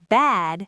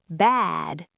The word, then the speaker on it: bad: Bat has an unvoiced t, so the vowel's fast. Bat. Bad has a voiced d, so the vowel's long. Bad. Even if I whisper the end of the word, you know I'm saying bad because you heard the length of the a.